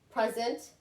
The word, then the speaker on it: present: Present and present. All right, I'm going to your house. You are having a housewarming party, which is like a party for a new house. And I bought you a lamp as a present, okay? So I'm going to present you with a present. I'm going to present you with a present. So again, did you hear the emphasis?